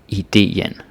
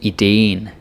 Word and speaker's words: idéen: is that in Danish, if you see two vowels next to each other, and like a double, like e, you see here, it's still two syllables. Like, don't say idéen, unless you want to be like really funky and slangy, but seriously, idéen, it's two syllables. Even if it's the same syllable, the same letter, the same vowel, you gotta say it in two syllables.